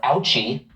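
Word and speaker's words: OCCHE: change Health Equity or ouchie rhymes with fouchy wants to scold you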